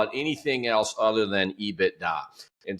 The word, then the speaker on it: EBITDA: In 21 years on Wall Street, I've never heard anybody call it anything else other than EBITDA. And so it's a 3-syllable word.